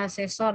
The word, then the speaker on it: asesor: Ini bacanya asesor ya, asesor atau pelengkap dari perjanjian pokoknya.